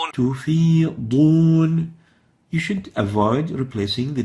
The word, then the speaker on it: تفيضون: They would say تفيدون instead of تفيضون. And actually تفيدون has a totally different meaning, and it's a very obvious lahn. So the right way of pronouncing this is تفيضون.